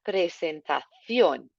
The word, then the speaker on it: presentación: Hago una presentación. Nice accent on the O there. Make sure your C comes out as a nice T.